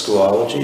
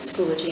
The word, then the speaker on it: Schoology: And you know, I always say this wrong, it's Schoolology, is that right? Schoology. Schoology. See, I always say it wrong.